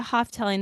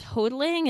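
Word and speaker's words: Houghteling: I've always pronounced it Hoftelling, though my audiobook narrator says hodling, and maybe she's right.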